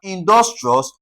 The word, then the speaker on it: industrious: So, we have industrious. So, we're going to stress what now? Dos, that's d u s.